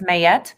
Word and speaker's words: Ma'at: the 42 principles so ma'at it's m-a-a-t some pronounce it as mayette she's an egyptian netter